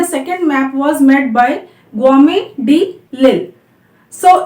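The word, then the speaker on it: Guillaume de l'Isle: map was made by Guillaume de Lille. So it's quite difficult to pronounce because it's a French name and where the double L is pronounced as Y.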